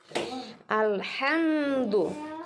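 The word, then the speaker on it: الحمد: sama seperti ini ya Ini bukan alham tapi alhamd menuju dilangsungkan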